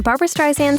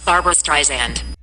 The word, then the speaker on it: Streisand: In an interview for NPR, she explained how this is a common mistake and that her last name is supposed to be pronounced with a soft S like in sand.